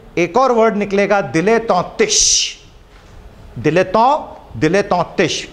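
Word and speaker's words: dilettante: दिलेतों। दिलेतों, अगर मैं इसको ऐसा प्रोनाउंस कर रहा हूं तो ये किस देश से आया है? इट इज a French word, दिलेतों।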